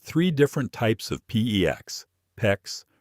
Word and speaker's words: PEX: You are standing in the plumbing aisle staring at three different types of PEX, PEX, rhymes with flex, tubing, and they all look almost identical.